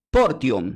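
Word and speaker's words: φορτίον: griego el Nuevo Testamento se pronuncia no como varo, sino diga porum."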